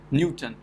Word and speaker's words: Newton: say we pronounce it Newton so first syllable is stressed so you have to